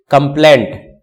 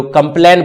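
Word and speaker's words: complaint: कंप्लेंट, ध्यान रखना, हम लोग जो कंप्लेन बोलते हैं वो गलत है, कंप्लेंट यानी टी रहता है लास्ट में, क्योंकि बहुत जगह इसका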